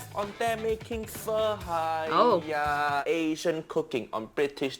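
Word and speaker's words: phở: Pronouncing it wrong. So Not pho, it's pho.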